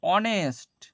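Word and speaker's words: honest: এইচটা এখানে কি হয়? এইচটা উজ্য থাকে। এইচ এর সাউন্ডটা সাইলেন্ট থাকে। সাইলেন্ট। এইচ এ সাউন্ডটা কি থাকে? না তো সাইলেন্ট থাকে।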